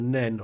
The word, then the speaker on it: Nene: yeah, Oh, yeah, it's the Nen for me. yeah. Yeah. I think it's at Peterborough that it tends to change, isn't it, the I pronunciation? think so. Yeah, I'm not sure how far to the west before it turns into the Nen.